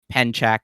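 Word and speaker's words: pencak: more about penack slat I should mention it's pronounced penack that's how it's that's how it's pronounced penack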